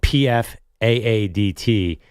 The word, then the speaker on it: Pfaadt: It's spelled PFAADT. If Travis Kelce stops doing the Pfizer ads, Pfaadt PF for Pfizer.